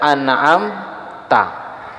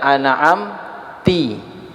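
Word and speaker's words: أنعمتَ: makna contoh misalnya bacanya biasa kita baca An'am ta tapi dia bacanya an'amti ini merubah daripada ma makna Kalau anamta engkau zat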